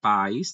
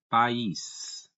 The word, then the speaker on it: país: Não é país, tá? Seria incorreto, não é no sentido aqui, mas sim país, tá? Uma vez que é um hiato.